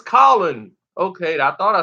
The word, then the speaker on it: Colin: Well, people say his name is not Cullen, it's Colin.